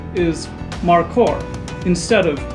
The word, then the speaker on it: mako: of the word has become lost the proper pronunciation is marcor instead of mako in scientific nomenclature we see the ch pairing